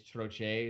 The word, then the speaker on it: Troche: I'm Puerto Rican, so I think technically it's Troche is how you're supposed to say it.